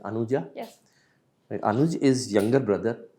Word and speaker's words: Anuja: Anuja, is it the pronunciation is right? Anuja?